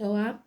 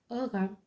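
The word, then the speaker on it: Ogham: It shows a symbol called Ogum, pronounced Oam or Ogam, which is an early form of Irish writing.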